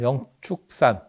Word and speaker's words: 영축산: 영산이라 하는 거는 어 영축산에 우리 발음으로는 축자 발음을 해야 되고 저게 취자 축자 축자 이렇게 세 개의 발음이 나옵니다 그래서 어 우리는 그냥 축자 발음으로 그래서 영축산 영축산 하면 우리나라에도 영축산이 있죠